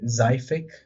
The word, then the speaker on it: Zyic: Uh I just got called in the middle of my thing by Zyic. It's confirmed. That's how you say it.